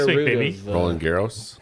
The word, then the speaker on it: Roland Garros: of, Roland Garros. Roland Garros. That's not that sounds more Spanish than French if you say it like that.